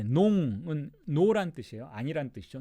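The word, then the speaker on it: noms: s가 있다 해도 프랑스어 발음은 달라지지 않아요. 마지막 자음은 발음하지 않으니까.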